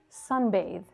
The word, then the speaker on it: sunbathe: But this one is voiced. Sunbathe.